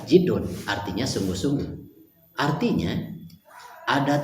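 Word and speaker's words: جِدّ: Kalau dibaca jadun kakek, kalau dibaca jidun sungguh-sungguh. Maka dalam hadis ini dibacanya adalah jidun, artinya sungguh-sungguh.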